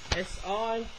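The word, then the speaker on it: 四: word from number four s i almost sounds like the word sir but in si if you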